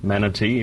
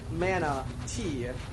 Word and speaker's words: Manatee: I'm from Australia, from a small game studio called Manatee, or Manatee if you say it properly. Yeah, how's it going? Good. So yeah, Mana. So I was curious about the first thing, because obviously I read it the American way as Mana Tea, like as in tea